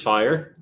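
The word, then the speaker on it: FHIR: the end cool so let's introduce fire pronounced f i e but it's really spelled FH iir as you can see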